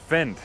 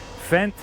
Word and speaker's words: Fendt: to say this but it say it's it's pronounced fent fent tractor I picked up a fent tractor a